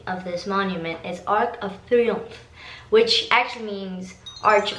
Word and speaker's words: Arc de Triomphe: The right pronunciation of this monument is Arc de Triomphe, which actually means Arch of Stars.